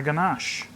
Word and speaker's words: ganache: that's beautiful so there there's my ganache or ganish as they correctly pronounce it okay a peppers and